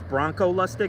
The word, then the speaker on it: Bronco Lustig: I mean, I worked with, I always say his name wrong. His name's Bronco Lustig. I think I called him Bruno.